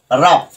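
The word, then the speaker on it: rough: এরপরেরটা দেখো রাফ আর ও ইউ জি এইচ রাফ এখানে এটা এতটুকু সমান আফ আর এই যে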